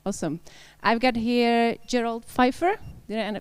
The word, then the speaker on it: Gerald Pfeiffer: I've got here Gerald Pfeiffer. Did I pronounce it?